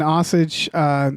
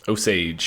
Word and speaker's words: Osage: So, but it's in Oklahoma, an Osage Nation. Osage, I think. Osage is how it's pronounced in the film.